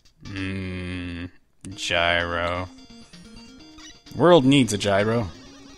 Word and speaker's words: gyro: gyro world needs a gyro now it's pronounced hero yeah